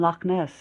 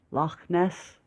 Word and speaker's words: Loch Ness: only caught my attention because of the letter “kha,” which he pronounced correctly and confidently… ...The Scottish frequently use the letter “kha” in their speech, which was surprising to my ears; thus, I repeated “Loch Ness?”